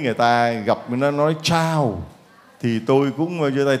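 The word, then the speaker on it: ciao: Phát âm giống như là chào, chào, chào, là tiếng chào của tiếng Ý, chứ không phải là tiếng chào là tiếng Việt Nam mình.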